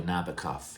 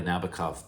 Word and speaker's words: Nabokov: In the lyrics, Sting mentions that book by Nabokov. He actually rhymes cough with Nabokov, but there's very little you can rhyme with Nabokov, to be fair.